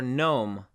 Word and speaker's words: gnome: So the letter G is silent oftentimes when it is next to an N sound. So we have sign or gnome.